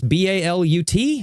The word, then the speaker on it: balut: I don't know how to pronounce this. B-A-L-U-T, right?